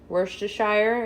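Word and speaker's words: Worcestershire: just season it um everyone pronounces this differently worse - Shire is how I say it but I usually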